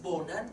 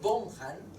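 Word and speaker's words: Bonham: son primero el caso Thomas bonan o Thomas bonhan como se le quiera pronunciar que es un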